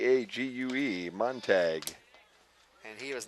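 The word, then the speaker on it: Montague: be one is a monu a mon a Montag there we go they took their pronunciations away from us when we gave that back to Steve didn't we huh m o n t a gue monag and he was not listed as playing in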